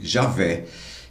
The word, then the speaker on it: Javé: YHWH se tornou o nome latino Javé. Esse Yavé ficou Javé. O H para nós é mudo, né? Então ficou J-A-V-E, tá? O W que sou de V.